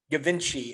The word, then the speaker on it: Givenchy: I said it was Givenchy, and my wife nearly smacked me.